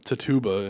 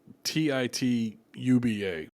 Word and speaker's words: Tituba: Well, probably what this was they're Tituba, I believe is how you say it. You spell it Tituba, but I'm going to say Tituba was her name.